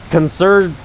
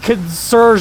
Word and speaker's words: concern: right I'm not concerned concern concer concern that's the freaking word me that's such a such a commonly used word and I for some reason thought consur was the correct way to say it what the hell I